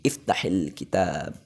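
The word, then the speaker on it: اِفْتَحِ الْكِتَابَ: Iftah di sini disukun. Tapi karena ini ketemu sukun, maka sukun yang pertama harus di kasroh. Jadi iftahil kitab. Begitu. Iftahil kitab.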